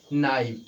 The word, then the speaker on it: knife: जैसे KNIFE, इसको क्या पढ़ते हैं गाइस, तो इसको पढ़ते हैं नाइफ।